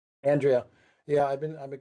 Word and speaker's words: Andrea: how how Yes, my name is is pronounced Andrea. Andrea.